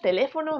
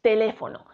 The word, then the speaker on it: teléfono: no son la tónica tenemos aquí unas palabras teléfono mesa ordenador bolígrafo y lápiz si dividimos las sílabas de estas palabras teléfono quedaría como te